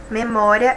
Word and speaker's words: memória: Memória é uma paroxítona, nós acabamos de ver, né? Nós acabamos de concluir. Se nós dividíssemos ali as sílabas, ó, memória, a penúltima sílaba que é a mais forte.